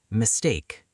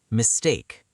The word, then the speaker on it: mistake: Mistake. Mistake. The stress is on the second part. Mistake. Mistake.